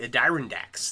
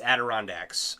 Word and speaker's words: Adirondacks: I was like, the Adirondacks, the Adirondack Mountains, right? And that is not how you pronounce that. It's Adirondacks.